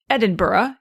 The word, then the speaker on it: Edinburgh: Now if you know someplace say Edinburgh in Scotland, right, you're going to hear it pronounced Edinburgh, even though that B u r is spelled the same way.